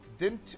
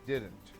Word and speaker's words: didn't: said look didn't didn't dint is the wrong pronunciation for this right the correct pronunciation is didn't and we did not